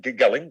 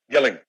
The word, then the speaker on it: Gelling: uh david david uh gelling did i say your name wrong yeah yelling david gilling thank you we're going